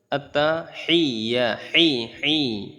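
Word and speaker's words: التحيات: ইনশাল্লাহ বিসমিল্লাহির রহমানির রাহিম আত্তাহিয়াতু লিল্লাহি আত্তাহিয়া গলার মধ্য থেকে উচ্চারণ করতে হবে আত্তাহিয়াতু লিল্লাহি সালাওয়াতুবা সালাওয়াতুবাহিয়াতুলিল্লাহি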